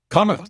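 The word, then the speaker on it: Connacht: Kana right is that the right pronunciation Kuk yeah Kuk is Kuk is the most western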